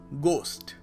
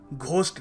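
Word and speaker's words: ghost: calcium next word is गोस्ट गोस्ट यहां पर H silent है सो हम लोग घोस्ट नहीं कहेंगे या कुछ और नहीं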